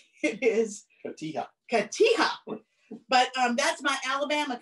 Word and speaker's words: cotija: And I just learned that I pronounced this wrong. After years, I always called it cotija, and it is not. It is not. It is cotija.